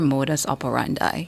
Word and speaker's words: modus operandi: the day sure one you're all familiar with it's spelled m o d u s o p e r a n d i spelled m o d u s o p e r a n d i modus operandi modus operandi modus operandi that's a